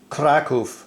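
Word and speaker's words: Kraków: as well as I found out that um crack off in Polish is well like I said hopefully pronounced Krakow and Warsaw is varshava man I'm loving this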